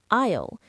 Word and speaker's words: aisle: Another good one is aisle. It's the path between shelves. And remember, the S is silent.